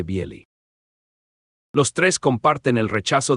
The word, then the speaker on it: Bely: Dentro de este horizonte aparecen tres figuras extraordinarias: Pavel Florensky, Viacheslav Ivanov y Andrey Bieli, pronunciado aproximadamente Bieli.